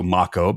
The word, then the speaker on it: mako: By the way, the correct way to pronounce Macco Sharks is also Macco because the word is Polynesian, which is similar to Japanese.